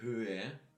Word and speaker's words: Höhe: You have to pronounce it a little bit. It's not only prolonging the Ö sound here, it is also, well, it is also in place to pronounce it a little bit at least as well. So die Höhe, yeah, you slide over it somehow. You breathe those both H's out of your lungs.